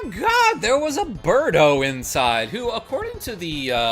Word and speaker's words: Birdo: Remember, it's Birdo, not Bird Don't. Tee-hee-hee. Yes, that's Birdo. No mister. Accent on the dough.